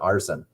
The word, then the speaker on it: ARSN: I came with uh Apex Racing Syndicate Network, which like is ARSN, so we just pronounce it arson.